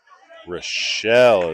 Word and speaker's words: Rochelle: Batting seventh for the Chargers, the designated hitter, sophomore number 16, Preston Rochelle. Rochelle is how you say that last name.